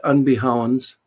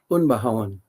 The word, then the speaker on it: Unbehaun: Uh there are many uh we say unbehounds in southwestern Wisconsin where my dad came from. Um, if you're in Germany, my last name is pronounced unbawan and it's a German adjective which means rough cut.